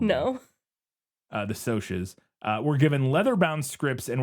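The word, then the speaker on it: Socs: the actors playing the Sox were given leather-bound scripts and were put up in Sox. Oh, the Soches. That's right. I forgot it's pronounced weird. It's not pronounced how it's spelled. No. The Soches were given leather-bound scripts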